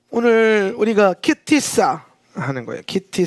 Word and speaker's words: כי תשא: 공동체가 되었으면 좋겠습니다 예 시 자 오늘 우리가 키티 싸 하는거예요 키티 싸 하면 어 발음 해볼까요 키티 싸 예 자 키 싸 아 아 아 예